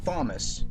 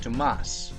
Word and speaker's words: Thomas: Now my real name is Thomas, not Thomas, but pronounced Tomas.